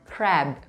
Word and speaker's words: crab: Yang ketiga, kita ada crab. Crab. Jadi huruf A di situ dibacanya agak panjang dan huruf terakhirnya pastikan B atau B. Oke, crab. Jangan diperpendek, huruf B-nya juga jangan dipotong singkat.